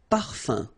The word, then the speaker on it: parfum: You don't pronounce the M at all. Un. Okay? So par, fin, parfum.